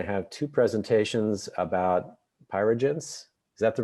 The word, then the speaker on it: Pyregence: Today we're going to have two presentations about Pyregence. Is that the right pronunciation?